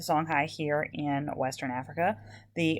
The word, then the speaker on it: Songhai: right now are uh the songhai which we spell with an i um the song high here in western africa